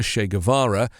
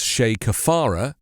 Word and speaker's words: Che Guevara: on that day desantis mispronouncing the name of the revolutionary leader che guevara as shay kefara railed against students who